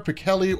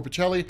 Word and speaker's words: Pichelli: Brian Michael Bendis and Sarah Pichelli, or Pichelli, I've heard it pronounced both ways.